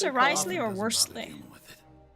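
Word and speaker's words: Wriothesley: he doesn't care about something then he they pronounce it Risley or Worley de with it right is that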